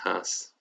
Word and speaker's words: hijas: And then if you only have girls, it would just be hijas, mis hijas. If you only have boys, or boys and girls, mi hijos, mis hijos. Okay. Cool. So remember the H is silent.